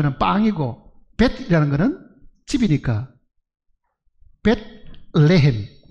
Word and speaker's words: 베들레헴: 레헴이라는 것은 빵이고 벳이라는 것은 집이니까 벳레헴. 그게 발음이 어려우니까 베들레헴. 우리말 성경 그렇게 쓴 겁니다.